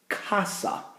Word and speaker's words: casa: I run across is Casa and that's a hard C sound so I'm just going